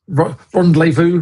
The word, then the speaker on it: Rendlezvous: Is that how it's pronounced? Yes, Rendlezvous, Rendlezvous.